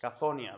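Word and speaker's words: Cthonia: Cazonia, ¿ves? El que preguntaba ayer cuál era la pronunciación, ahí la tienes, Cazonia.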